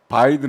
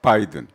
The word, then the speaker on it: 바이든: 수 있는 거 말씀드리면요 비읍 발음은 파열음이에요 그래서 바이든 할 때는 입술이 붙어 가지고 떼어집니다 처음에 부탁 바이든 날리면은요 입술이 안 붙어요 처음에 날리면 그죠 바이든은 바 바 입술이 붙었다가 떨어지는 거예요 그래서 그게 잘 들려요